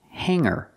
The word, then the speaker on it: hanger: cannot say hanger hanger the word is pronounced Hangar with no hard G sound hanger words with NG